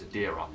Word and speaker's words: Adira: I mean, when I look at Adira's name, it looks like Adria to me, but apparently it's Adira.